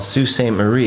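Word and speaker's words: Sault Ste. Marie: movie actually in uh what they call saul st marie yes even though it's spelt salt san marie don't ask me to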